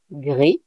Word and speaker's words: gris: So, for gray and purple, you will see that the masculine and the feminine, the pronunciation is not the same.